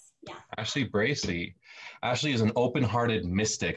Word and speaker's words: Bracey: of utah uh ashley your last name is pronounced bracy is that right ashley bracey ashley is an open-hearted mystic i'm gonna ask